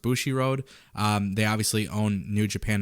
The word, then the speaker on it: Bushiroad: So it is being said the company that now owns Stardom, which is I think pronounced Bushiroad, they obviously own New Japan as well.